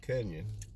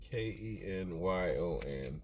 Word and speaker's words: Kenyon: Oh, Kenyon. Put your say something so she can see it on the screen. Kenyon. Pronunciation is Ken-YUN. Kenyon. A lot of people can't pronounce. Like Funyun, Kenyon.